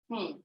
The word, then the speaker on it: lead: This could also be lead. Lead or lead. Here we are referring to it as lead because it says when it rhymes with bed.